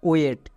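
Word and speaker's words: wait: এখানে অনেকে ভুল করে, আয়ের উচ্চারণ হবে না। এবার টি এর জন্য টো, তাহলে পুরোটা কি দাঁড়ালো ওয়ে প্লাস টো ওয়েট।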